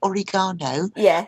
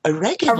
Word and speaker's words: oregano: And some of the pronunciation would be different too. So instead of getting oregano, I'd have to buy oregano. Oregano, yeah, exactly.